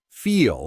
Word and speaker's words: feel: Feel has that long E sound, while fill has a short I sound, similar to that sheet example we talked about earlier.